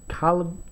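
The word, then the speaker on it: Kahlon: The battery is most definitely a replacement made by Calon is how I think it's pronounced, K-A-H-L-O-N.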